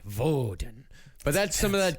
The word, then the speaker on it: Woden: Except it's pronounced Voden. Oh. Uhhuh. Yeah. But in the German way, Voden.